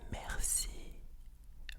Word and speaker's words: merci: Do you know the way we say it is mercy?